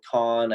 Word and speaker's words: Kahn: is called everything explained by Ethan Coen again my last name is spelled ka HN and I kind of